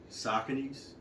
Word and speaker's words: Sauconys: Let me start off with these Sauconys. I had to learn the correct pronunciation of these things.